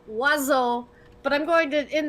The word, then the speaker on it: oiseau: It's pronounced oiseau, but I'm going to, in the chat, spell how it is.